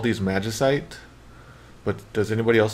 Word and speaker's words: magicite: I always pronounce it magicite, in English, in the English version.